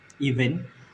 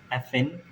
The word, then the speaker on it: even: mistook of pronounce it which is uh even uh which they originally said as effen the V uh Changed by the letter of f f and game they just